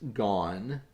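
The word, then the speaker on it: gonne: is someone has stolen it looks like it should be pronounced gone uh g-o-n-n-e uh but that you know they don't really know how to spell gun so so it's just spelled g-o-n-n-e but someone has stolen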